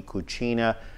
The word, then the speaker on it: cucina: Lee DeMilo joining us here on Studio 411 for the hour, Lingua e Cucina.